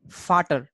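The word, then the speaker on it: Vater: in German right so V sound is for sound and a is aa so VA becomes what far Turk fatter fatter means father right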